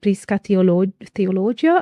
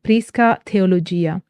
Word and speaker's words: prisca theologia: I know that uh English speakers sometimes say Prisa the theologia I think but yeah in Latin medieval pronunciation is prisca theology or perennial philosophy and again